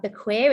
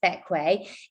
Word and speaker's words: Bequia: Despite being more spelt like Bequia, it's pronounced Bequia.